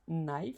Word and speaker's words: knife: Non, knife en anglais, hein. Ça commence par un K. Même si ça se prononce knife, ça commence par un K.